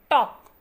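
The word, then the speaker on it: talk: Look at the word टॉक. Here L is silent.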